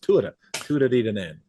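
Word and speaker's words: Tuatha Dé Danann: Tuatha, and I got that from an Irishman. I said, how do I pronounce this properly? He says, Tuatha Diadane.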